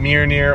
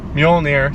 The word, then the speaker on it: Mjolnir: supposed to be wielding mere near or in this sorry Mjolnir sorry I almost mispronounced that and his axe which